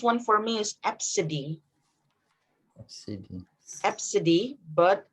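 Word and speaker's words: Abcde: heard the weirdest one for me is absidine absidy but it's spelled a b c d e i'm not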